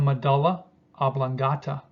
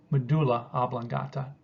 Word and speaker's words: medulla oblongata: spinal cord is the medulla oblongata, or medulla oblongata. It can be pronounced either way.